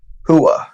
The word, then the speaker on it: Rua: Evan versus Shogun Mauricio Rua Hua it is pronounced but coming from former